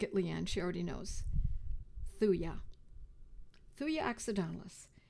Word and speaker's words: thuja: Leanne she already knows thuya thuya accidentalis t-h-u-j-a the J is silent some people pronounce thuja but I believe the correct pronunciation is thuya three accidentalist and it